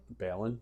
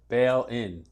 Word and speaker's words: Balon: say your last name Balon Bal Balon no bail in bail bail in bail in bail in right don't bail out Bail in all right